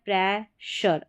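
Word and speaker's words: pressure: यहाँ पर है प्रेशर, अब इसको शर करके पढ़ा जा रहा है, तो यहाँ पर ध्यान रखना है प्रोनाउंसिएशन का।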